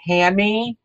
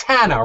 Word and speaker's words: Hannah: Did we say it's Hanny or Hannah? No, it's Hannah, right? It is Hannah, yeah.